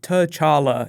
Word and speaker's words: T'Challa: of black panther Comics don't be afraid to try and say his name out loud it's just tala it's very simple the way I say